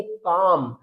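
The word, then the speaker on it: calm: तो एलम का भी रूल है कि अगर लास्ट में एलएम मिलता है तो एल लेटर साइलेंट रहेगा तो हम इसको रीड करेंगे काम इसको रीड करेंगे बाम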